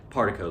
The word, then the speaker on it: Partiko: Is it Partiko or Partiko? Tico sounds so cool, but Partiko, like a particle, is what I'm going with.